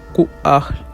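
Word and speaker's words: Ku'ahl: el rectángulo rojo y como se puede ver el apóstrofo representa un Saltillo la H una aspiración Así que se pronuncia kahl más o menos los kahl hablan una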